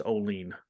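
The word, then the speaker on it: Olean: Oilers baseball team and uh somebody goes it's Olene that's fine you're not the first ah there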